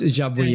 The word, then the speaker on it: Jabouille: I'm pretty sure it's Jabouillet. Okay. Yeah. Right. So, okay. Jabouillet, 3 syllables and everything.